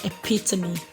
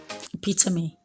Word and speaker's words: epitome: make a sound okay we have at least two sounds for the ending part of the e that's what i want to add to this lesson examples are words that have the e e examples we have recipe recipe i have heard people pronounce this red as recycled okay that either is pronounced okay so you rather say recipe i have next one to be hyperbole hyperbole next one is epitome epitome okay another sound of